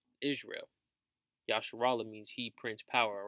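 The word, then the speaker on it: ישראל: Yasharallah means he prints power, all right? And that's the proper way to say Israel.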